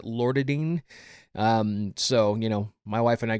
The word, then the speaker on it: Loratadine: The main ingredient that really helps is, I think you pronounce it Loratadine.